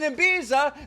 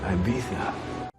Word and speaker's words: Ibiza: rather be partying in Ibiza than bearing milk for you Dana it's pronounced Ibiza oh